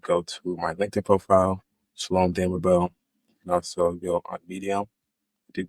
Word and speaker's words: Shalom Damabel: and tell our audience exactly here how to pronounce and spell your name again if they're Googling Shalom damell h a l o m d a m